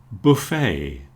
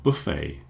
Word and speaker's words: buffet: lot of cases, but one thing we all agree on is we don't pronounce the T. So beret buffet or buffet cabernet a type of